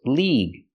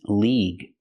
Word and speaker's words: league: And this word, league. Use the long E sound like green beans. League.